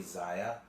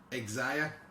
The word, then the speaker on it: Xia: but you can't say Zaya. I know. because her name starts with an X. But it's pronounced like his E. Xia. It's like xylophone.